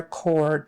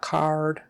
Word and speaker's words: cord: not card cord cord make sure you get the r and don't say code yeah don't say umbilical code umbilical cord on the or o r always get your R back there or or unconscious unconscious